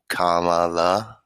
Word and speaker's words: Kamala: and it was kamala harris make sure you pronounce it kamala or you will trigger the left kamala harris